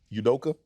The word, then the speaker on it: Udoka: his full name I made edoka oh really udoka yeah I'm a udoka don't make me make